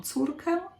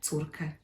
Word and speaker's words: córkę: By the way, also notice that I don't really try too hard to pronounce ę. So some people will say mam córkę, a little bit of nasal sound there, or not at all, mam córkę.